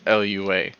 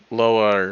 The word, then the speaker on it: Lua: you pronounce it because I learned that it's not actually pronounced Lua it's like lower or something like that um either way I'm